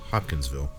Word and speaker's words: Hopkinsville: Is it Hopkins, like Anthony Hopkins. Oh, Anthony Hopkins. Yeah, Hopkinsville.